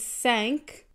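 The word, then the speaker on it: cinq: end so cat poop v is sank I usually think of a boat that just sank sink six is cease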